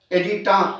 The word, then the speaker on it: adyta: This is known as ADYTUM is singular, and plural is edita, ADYTA, edita.